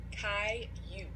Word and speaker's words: Caillou: Caillou.